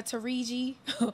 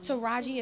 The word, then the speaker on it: Taji: it feels great I I hope everybody learning how to pronounce it they know it but sometimes I get a tii or Tahari but it's okay I'll answer to anything it's exciting taji is Swahili and it means hope imagine that great year